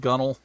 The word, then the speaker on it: gunwale: Did you know that the word gunwale is pronounced gunnel?